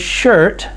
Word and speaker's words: shirt: IR, look at the word shirt. IR makes the R sound. The letter R makes the R sound. And so here, IR together make the R sound. The I is silent.